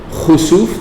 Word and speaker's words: khusuf: And then the second one, khusuf, the one that is spelled KH, That is the same word, but instead of a kaf, you're using a kha. Okay? So kha, sin, waw, fa.